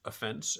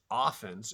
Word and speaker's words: offense: In normal usage, these are pronounced offense and defense. In football, it's offense and defense.